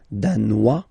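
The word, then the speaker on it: danois: Denmar Dan Dan okay insist on that Dan don't pronounce the final s Dan here you pronounce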